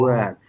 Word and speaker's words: work: sound is different. We do not pronounce R.